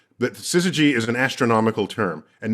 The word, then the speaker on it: syzygy: I've got to try and pronounce this correctly. Syzygy.